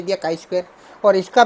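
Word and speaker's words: chi square: तो इसको बोलते काई स्क्वायर। और लेकिन इसका काई स्क्वायर है तो इसका स्पेलिंग है CHI, काई स्क्वायर, बराबर है।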